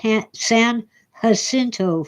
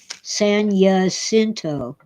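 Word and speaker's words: San Jacinto: of those branches, the H San Hinto fault. I'm tired of people calling it Saninto. It's spelled with a J and in Spanish the J is hot. It sounds like H, not Y.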